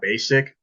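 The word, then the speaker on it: Besic: from uh Austria her name is uh uh basic it's spelled b-e-s-i-c and she is a she is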